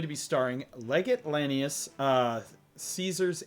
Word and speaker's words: Caesar: This is going to be starring Legate Lanius, Caesar's Ace, or Kaisar's Ace if you want to pronounce it in the Latin form.